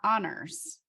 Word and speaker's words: Anders: is perfect okay great yeah oh so it's honors yes exactly that sounds weird in English so